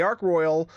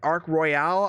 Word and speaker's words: Ark Royal: Yes, I've talked about this ship before, and yes, I saw your comments about me pronouncing it wrong. I don't know why I was pronouncing it Ark Royale.